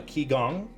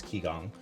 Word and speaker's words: qigong: techniques uh such as i believe that is pronounced uh qigong or it's q-i so it's i think it's ki gong to manipulate the qi